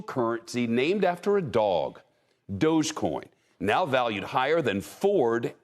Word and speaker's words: Dogecoin: first let's start with how to pronounce this thing doggy dog coin it's dogecoin the digital currency started as a joke between two software engineers in 2013.